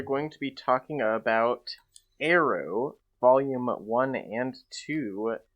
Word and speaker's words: Aero: today we are going to be talking about arrow volume one and two not to be confused